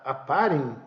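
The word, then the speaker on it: Oparin: escreve oparem porque no no idioma Russo quando você fala a letra O tônica e eles pronunciam como a né então a gente fala que o parem lá é a parem Ok e vamos pensando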